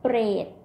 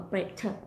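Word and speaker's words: เปรต: You have to pronounce R with the P.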